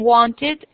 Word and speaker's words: wanted: La E no se pronuncia. Solo se pronuncia la E y se convierte casi en una I, es cuando terminan en T y en D. El sonido, como en wanted, needed.